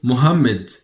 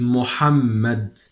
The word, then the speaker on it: Mohammed: Western we usually say Mohammed in the western regions in the non speaking Arabic regions we say Mohammed but in Arabic Standard Arabic it is Mohammed it's Mohammed Mohammed is the name